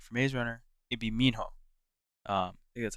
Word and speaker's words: Minho: and TV shows like for Mazerunner it'd be Minho. Um that's how you say his name. Thomas is cool. Thomas is like my second favorite, but I you know I think Minho is like Mino is probably like the best.